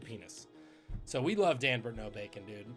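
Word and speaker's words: Nobacon: man named dan burt no bacon his last name is no bacon n-o-b-a-c-o-n um pronounced no bacon born nigel hunter he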